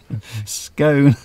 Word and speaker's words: scone: You see, if there wasn't an E on the end, I could see how it could be pronounced scone. Yes. But there's an E on the end, like in bone. So it should be scone.